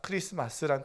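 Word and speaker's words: Xmas: 크리스토스가 탄생을 축하하는 마스 크리스마스란 뜻입니다 그래서 이거는 x자로처럼 써져 있어도 x- 이렇게 읽지 않고 그냥 크리스마스 이렇게 읽는게 기본적인 센스에요 할렐루야 그래서 우리 성도님들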